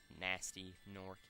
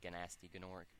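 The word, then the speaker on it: Gnasty Gnorc: little do they know nasty nork pronounced nasty nork in ast why the g is supposed to be silent even though they were saying ganasti genoric whom they previously banished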